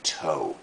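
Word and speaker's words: tow: tau away you know pronunciation toe t-o-w like your your toe like your toe ha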